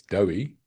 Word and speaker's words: Dewi: It's not Dewi, it's Dewi.